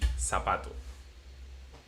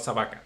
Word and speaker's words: zapato: For example, shoe in Spanish will be zapato. Okay, Sabat. zapato, not sabaca.